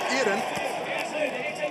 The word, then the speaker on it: Iron: But it's Ossetian, pronounced Iran, which means a person from Ossetia.